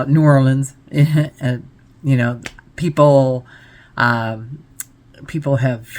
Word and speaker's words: New Orleans: I'd rather say NOLA because a lot of people pronounce New Orleans different. You know, you might hear me pronounce it 2 or 3 different ways. Because being from Michigan, I want to call it New Orleans, you know, because Michigan, we're heavy on the E's.